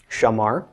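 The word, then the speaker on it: שמר: come up with Shing Komets mem Papa race pronounced Shama heart Shamar so who Shamar means he kept or he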